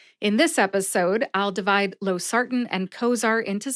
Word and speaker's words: losartan: Note that I eat the A in the last syllable, tan. What does that mean to eat the A? You're probably wondering. It means that the A in the last syllable, tan, is practically eliminated when I say Losartan. See if you can hear it when I say it again.